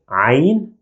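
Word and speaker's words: عين: pronounce it as i the sound comes from the throat i you feel like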